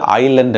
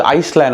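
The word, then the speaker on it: island: ஆனா நாங்க சின்ன வயசுல இங்கிலீஷ் படிக்கக்குள்ள பள்ளிக்கூடத்துல இந்த ஐலண்ட்ல பாத்தீங்கன்னு சொன்னா ஒரு எஸ் ஒன்று இருக்கும். அந்த எஸ் வந்து உச்சரிக்க கூடாது. ஆனால் நாங்கள் ஆரம்பத்தில ஆங்கிலம் படிக்கைக்குள்ள வந்து சில வேளையில இஸ்லாண்ட் என்று வாசிக்கிறது. அல்லது ஐஸ்லாண்ட் என்று வாசிக்கிறது.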